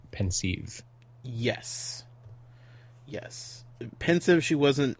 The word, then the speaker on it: Pensieve: when I'm reading it I definitely just go with pensive okay that's kind of what she settled on but yeah like like I I I I've all also hear a lot of like pensive yes yes pensive she